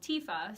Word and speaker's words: TFAW: The short version is called TIFA, so kind of like your girlfriend named Tifa, but it's spelled TFAW.